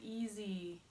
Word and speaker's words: easy: It makes it easy. Easy. You know, it's an S. Easy spelled with an S, but it sounds like you're saying easy with a Z.